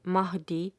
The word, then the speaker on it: Mahdi: The H in Mahdi is strong and soft in the terminal H of Shah.